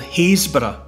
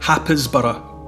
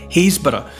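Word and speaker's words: Happisburgh: at a place called hazor on the Norfolk Coast HB it looks more like hapb if you look for it on the map h a p p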